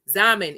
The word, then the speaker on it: Xaman: Zaman is spelled Xaman. Xaman.